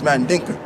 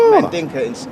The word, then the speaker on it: Mandinka: It's Mandinka. Yeah. For real though? Yeah, you say it like Mandinka in Senegal, in Sierra Leone, you say Mandingo.